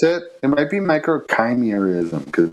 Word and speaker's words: microchimerism: it it might be microchimerism because it's about like chimera yeah they say like the root word comes from chimera but i i've always been uh pronouncing it chemorism so it's like micro